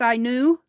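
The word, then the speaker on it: Ainu: uh I knew a uni it's pronounced I knew and it's was started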